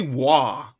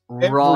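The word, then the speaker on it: Roy: Raw's name wrong because all they say Wah. It's Raw. Everyone says Wah. It's Raw. It's French. It's R O Y is how you spell his name. It just sounds like Wah, but it's not.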